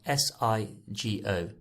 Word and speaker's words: sigo: is a gu sound the g is a gus sound so we don't need a u to make it hard so sigo i follow is spelled s-i-g-o sigo how would we say